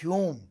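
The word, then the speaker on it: T. E. Hulme: प्रतीक टी ई हल हां शाबाश एल साइलेंट है। जब दो कोसोनेंट साथ में आते हैं ना तो जनरली एक साइलेंट हो जाता है और यहां एल साइलेंट है। इट्स ह्यूम और ना ये अब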